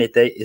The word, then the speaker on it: Ettai: Non, en fait, faut juste prononcer toutes les lettres. Etaï, tout simplement. A-I à la fin. Etaï. Okay. Non, pas Etaï. Si tu veux vraiment le prononcer correctement. Etaï. Etaï. Etaï. Etaï, comme maïs ou je sais pas, tu vois.